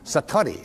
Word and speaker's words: Satori: what is called a in Japanese it's call out excuse my Japanese but it's called Satori I'd love to say that Satori SAT Ori and it means instant